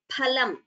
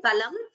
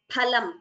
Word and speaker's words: फलम्: And this is pronounced as phalam. Pha. It is not pha. In Sanskritam, we don't say phal, phalam. It is phalam, pha, not pha.